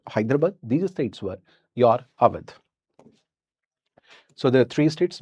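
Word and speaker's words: Awadh: Aad is also written by UD that is called Ud or Aad.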